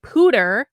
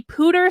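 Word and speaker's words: Poudre: legal file the lawsuit on Wednesday against the Pooter I have learned how to pronounce this now against the Pooter School District on behalf of Jonathan and Aaron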